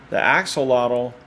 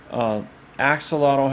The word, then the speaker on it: axolotl: The axolotl, this is a Mexican axolotl. Axolotl has similar mythological things in their culture. The axolotl I think the proper pronunciation is axolo, and the god or